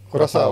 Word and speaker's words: Curaçao: Bacanya Curaçao apa Curacao? Curaçao.